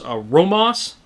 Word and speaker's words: ROMOSS: a different company it's a romos i believe is how you pronounce it and this one's bigger